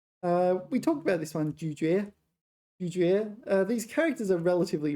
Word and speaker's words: 咀嚼: But in this word it's 嚼, 咀嚼, to chew.